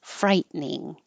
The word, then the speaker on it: frightening: that frightened me frightening when I write it I have to think frighten frightening but we don't say the middle te and it just turns into two syllables frightening that must have been